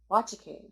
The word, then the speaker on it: Nwachukwu: And his last name is pronounced Wachaku. I call your bluff. Because like half of the letters would have to be silent because it's spelled NWACHUKWU and you pronounce it like kazoo.